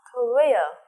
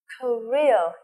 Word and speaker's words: Korea: Nước thứ ba, cầu như thế này, chúng ta sẽ đọc là North Korea. Em nhìn theo cô nhé. North, đưa lưỡi ra. North Korea, trọng âm thứ hai. Korea, alright.